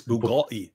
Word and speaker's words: Bugatti: Where's your Bugatti boy? I don't know why I marked this comment. They've already given you the correct pronunciation. It's Bugatti. Bugatti.